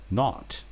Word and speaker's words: naught: The number 0 in the telephone number he pronounced naught. N-A-U-G-H-T.